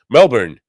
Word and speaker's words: Melbourne: Melbourne. That's how they say it.